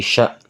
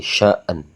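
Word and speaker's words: شأن: Enggak boleh fi kulla yaumin hua fi sya'na. Nah, oke. Cara membacanya yang benar. Oke, langsung aja teman-teman ya. Kita langsung baca dari sini teman-teman ya. Jadi kita baca di sini ya. Bismillahirrahmanirrahim. Yas'aluhu man fis samawati wal ard. Kulla yaumin hua fi sya' kulla yaumin hua fi syaan syaan jadi syaan.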